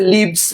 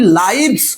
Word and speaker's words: lives: যুক্ত হয়ে হি লিভ, লিভ থেকে হয়ে গেছে লিভস।